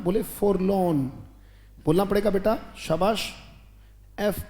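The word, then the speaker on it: forlorn: एक वर्ड आता है बेटा बोलेंगे मेरे साथ उच्चारण बोले फॉर लोन बोलना पड़ेगा बेटा शाबाश एफ ओ आर एल ओ आर एन उच्चारण क्या है फॉर लोन सोमबर सोलन वो भी गोन फॉर लोन या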